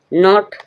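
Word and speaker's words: knot: के कब कहां कैसे साइलेंट रहती है के के साइलेंट कब है नॉट नॉट मींस गांठ जब के के बाद एन आए या ऐसे बोल सकते हैं एन से पहले के आए तब के का कोई साउंड नहीं रहेगा नॉट नॉट मींस गांठ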